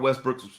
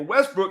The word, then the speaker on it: Westbrook: And for Westbrook, he's saying hearing his last name pronounced Westbrook instead of Westbrook is equally offensive. So where is the line drawn? That's like the French pronunciation.